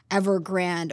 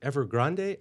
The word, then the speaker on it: Evergrande: And is it Evergrande or is it Evergrande, and I'm going with Grande, like Ariana Grande and the Rio Grande.